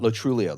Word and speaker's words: Lo Truglio: do you mean uh La Trulia the g is silent the Trulia and so this is